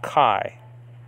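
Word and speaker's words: καί: greek word kai now the modern pronunciation is actually ke so they pronounce that diphthong alpha iota e in modern uh terms but in biblical pronunciation is pronounced i so this word is pronounced kai and that word can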